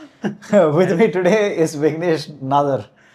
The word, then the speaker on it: Nadar: Uh today with me is Vignesh Nay. Yeah, you pronounced my surname wrong. Vigny no Nada. Take two. A D A R.